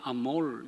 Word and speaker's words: 아모르: 저는 이제 딸들을 보내고 아들만 이제 둘 남았는데 너무 감사하고 아모르에 갔더니 원래 이제 발음을 아몰 이렇게 해야 되는데요.